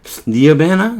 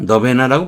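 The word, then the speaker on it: nirvana: 너베나 니어베나 너베나라고 보통 발음하는데 너베나 열반 해탈 이런 뜻이죠.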